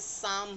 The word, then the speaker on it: psalm: कैसे, जैसे साम है, एक वर्ड है PSALM।